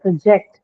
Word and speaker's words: project: on the second syllable because I said project because it's marked on the, sorry, it's used as a verb, so project. If it's used as a noun, then project, right?